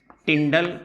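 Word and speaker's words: Tyndall: इस फिनोमिनन को कहा जाता है टिंडाल इफेक्ट। यहां पर this phenomenon is known as टिंडल effect या टिंडाल इफेक्ट, जो आपको अच्छा लगे आप प्रोनाउंस कर सकते हैं।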